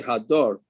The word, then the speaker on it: hadar: the passive answers well the question is how you pronounce this now ilana means that it stays on the tree from the which in which case you should say hadar meaning an ester normally